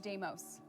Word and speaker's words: Deimos: Is it Deimos? It's Deimos. Deimos.